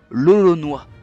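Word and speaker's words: l'Olonnais: François s'était fait surnommeré loloné en raison de son origine mais à l'époque on ça se prononcer aussi lolonois et lolonois ça ressemble énormément à Roronoa vous ne trouvez pas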